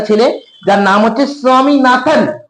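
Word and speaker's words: Swaminathan: তোমাদের মতন বাচ্চা ছেলে যার নাম নাম হচ্ছে স্বামীনাথন উচ্চারণ দেখব যেন উচ্চারণে প্রবলেম না হয় প্রনাউন্সিয়েশন দেখবে ভালো করে স্বামীনাথন হু ইজ আনলিং unwilling আনলিং willing মানে কি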